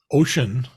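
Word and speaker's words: Wouxun: that um a a Chinese company which is pronounced ocean but it's spelled wax on w-o-u-x-o-n is also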